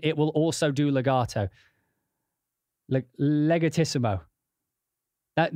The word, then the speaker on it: legatissimo: Legatissimo. That you'd have to pronounce it legatissimo, not legatissimo. I mean, you could pronounce it legatissimo, but legatissimo. Legatissimo is how it's done.